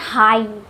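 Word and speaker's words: high: इसको पढ़ते हैं हाई। यहां पर भी घ का उच्चारण जी एच का उच्चारण नहीं हो रहा है।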